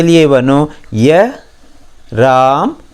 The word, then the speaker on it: रामा: हिंदी में हम राम बोलते हैं, कन्नड़ में बोलते समय उसका पूरा उच्चारण आता है रामा। इवनु रामा, इवनु राम है ऐसा मत बोलिए, इवनु रामा। आ की मात्रा जोड़कर ही बोलिए, तभी कन्नड़ का उच्चारण सही होगा।